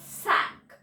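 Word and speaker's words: cinq: Now 5 is sink and we pronounce as sank.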